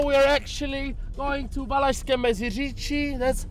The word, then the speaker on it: Valašské Meziříčí: Right now we are actually going to Valašské Meziříčí, that's how you should pronounce it as well.